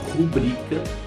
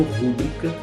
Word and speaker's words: rubrica: A palavra rubrica, não rúbrica, que é assinatura, significa assinatura.